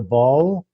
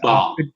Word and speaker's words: Baal: And that is The Ball. And I don't think I'm pronouncing that correctly, Baal, maybe, Theory of Christianity. It's Baal.